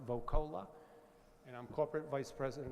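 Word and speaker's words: Voccola: Last name is spelled V as in Victor, O-C-C-O-L-A, pronounced Vocola.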